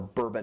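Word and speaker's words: Bourbonnais: the same town so has a bonus or bbon is the correct way to pronounce it bbon address and she looks down at my key ring while I'm fishing for my credit card and she says oh bban Illinois and I was like hey you've been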